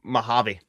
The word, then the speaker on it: Mojave: Is that how it's pronounced? Mojave.